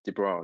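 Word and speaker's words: de Broglie: So we can talk about the broccoli wavelength or I actually check the actual pronunciation is deo the bro de the broccoli de bro de the bro w w w w w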